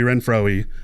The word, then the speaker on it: Renfroe: If you looked at his name and you call this man Hunter Renfroe, I salute you.